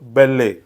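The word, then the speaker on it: ballet: double L इ टी यामध्ये T silent असतो याचा करेक्ट उच्चार होतो बेल्ले बेल्ले बेल्ले इट इज अ फॉर्म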